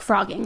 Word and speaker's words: phrogging: there called frogging frogging spelled with a ph but pronounced like frogging like an fr so this is a